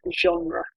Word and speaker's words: genre: Genre has French origins, this word, and so the pronunciation, although it's British French, it's more towards the French pronunciation, genre.